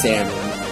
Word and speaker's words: salmon: Salon like Salon but you know it's actually pronounced salmon um I just say Salon this is a